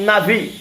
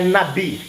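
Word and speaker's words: נביא: é Profeta do hebraico nave nave está escrito nave mas é nabih nabih a pronúncia Nabi é do grego prophets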